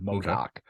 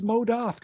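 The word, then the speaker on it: MODOK: no that should be no modafk and I'm like no it's Modoc she's like no it's modak I'm like it's like a 50 year old comic character I know how to spell it right and I guess this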